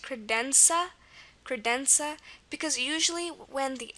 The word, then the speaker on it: credenza: Another example is credenza. Credenza. Okay, and here it's a Z.